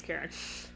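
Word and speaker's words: Karin: It's spelled with an I, but her name is Karen.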